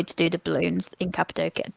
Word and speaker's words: Cappadocia: do the balloons in Cappadocia, Cappadocia. Cappadocia. Yeah, everybody Everyone says it pronounces a it little bit different.